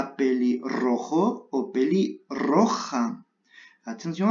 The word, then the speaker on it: pelirrojo: On doit prononcer la R et la J.